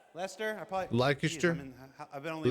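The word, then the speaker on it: Leicester: How do you say is that Lasher? Lester. Lester.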